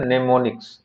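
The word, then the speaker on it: mnemonics: इसे बताया जाता है मनेमोनिक्स य इंपॉर्टेंट है यम साइलेंट है इसे हम लोग रीड करते हैं मनेमोनिक्स के नाम से बोलो क्लियर हो गया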